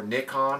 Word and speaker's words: Nikon: If you're a Nikon user, or Nikon if you're in the rest of the world besides America, that's how they say it, then, you know, I would still look at the 7D.